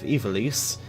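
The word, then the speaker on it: Ivalice: to our world of Ivelisse and yes that's actually how you pronounce it it's crazy somewhere from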